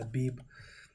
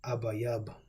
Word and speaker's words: Abib: Now, we should already know that Abib is not the proper pronunciation. This is the Yiddish pronunciation. But if you would break it down, the Paleo-Hebrew pronunciation, the real Hebrew, because Yiddish didn't come about until the 10th century, you get Abayab.